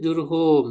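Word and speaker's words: جرهم: Nah, namanya itu Jurhum ya, yaitu cara bacanya jimnya doma ya, lalu ro-nya sukun, jur gitu ya. Lalu ha yang doma, hu ya, lalu apa mim ya.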